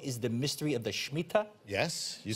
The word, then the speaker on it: Shemitah: Now, one of the questions that they have to give me, they say, what is the mystery of the Shemitah?